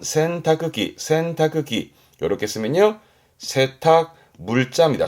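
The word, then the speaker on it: 洗濯機: 발음은 센타크기.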